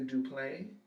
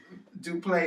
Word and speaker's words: Duplaix: Duplay is spelled Duplaix. What? So, I mean, I'm thinking that it's silent, like the I and the X is silent.